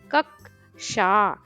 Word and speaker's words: कक्षा: कक्षा, देखो एक क है लेकिन हम दो क बोल रहे हैं। कक्षा, कक्षा।